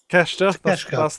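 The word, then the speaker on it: Takeshita: Keshta.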